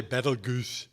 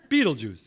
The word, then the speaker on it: Betelgeuse: of Orion called Betelgeuse some people say petal goose but Betelgeuse is good enough that's how most people pronounce it and it is in